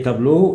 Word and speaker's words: tableau: هنا le tableau est noir. أول واحدة le tableau هنا ال A و ال E قلنا تنطق إيه O.